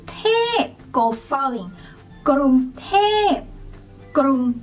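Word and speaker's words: กรุงเทพ: one is Bangkok tight people do not say Bangkok we say gr say in midtone and then when you say tap go falling Grom T Grom t the next one is when you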